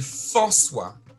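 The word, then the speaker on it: Fanswa: C'était marrant, en fait, comme prononciation. Mais il s'appelle François.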